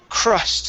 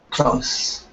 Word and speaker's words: crust: This word here is crust instead of cust. Okay, give me a CR sound. Crust. cross, Okay, instead cross, of crust. Okay, it's an sound. So it's a mixture between the ah. Okay, ah and the oo sound. So it's crust.